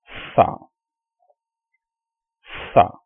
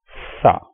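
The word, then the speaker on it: ث: It has 3 dots on top and it is called Sa, Sa. You have to place your tongue between your upper and lower teeth to pronounce this sound, Sa.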